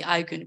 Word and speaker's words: Aygun: We say, okay, how this person you need to pronounce, let's say, Aygun, my name, so my face, and they say Aygun, we record and get this out.